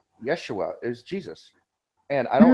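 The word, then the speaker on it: ישוע: told me once that Yeshua was the proper way to pronounce Jesus's name but again even that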